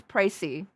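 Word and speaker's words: précis: It's pronounced as pricey. So, the court has now heard the precy of the case.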